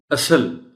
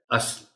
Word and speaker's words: اصل: جو غلط ہے۔ روایتی۔ اصل، اصل کہنے کے ہم لوگ عادی ہیں، درست تلفظ اس لفظ کا ہے اصل۔ کلا، قلعہ بول دیتے